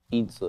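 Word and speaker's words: 椅子: Itza is how you say chair in Mandarin, Joey.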